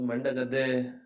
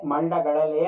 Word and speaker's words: ಮಂಡಗಳಲೆ: ಪಕ್ಷಿಧಾಮ ಅಂತ ಇದೆ ಸರ್ ಆದರೆ ಅದು ಮಂಡಗದ್ದೆ ಮಂಡಗದ್ದೆ ಅಂತಲೂ ಕೆಲವರು ಕರೀತಾರೆ ಮಂಡಗಳಲೆ ಅನ್ನೋದು ಅದರ ಪೂರ್ಣ ಹೆಸರು ಮಂಡಗದ್ದೆ ಅಂತ ಜನರ ಬಾಯಲ್ಲಿ ಗಳಲೆ ಅಂತ ಹೇಳೋಕೆ ಸ್ವಲ್ಪ ಕಷ್ಟ ಆದಾಗ ಏನ್ ಮಾಡ್ತಾರೆ ತಮಗೆ ಅನುಕೂಲ ಹಾಗೆ ಉಚ್ಚಾರ ಮಾಡಲಿಕ್ಕೆ ಶುರು ಮಾಡುತ್ತಾರೆ ಮಂಡಗದ್ದೆ ಪಕ್ಷಿಧಾಮ ಆ ಸುಳುತಗಳು